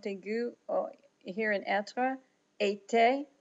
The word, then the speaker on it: été: The forward/ accents, the accent aigu here in être, été, just like the word for summer.